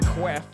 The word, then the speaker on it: queef: You might catch me on the voice chat talking shit about a queef or queff, as it's pronounced around here.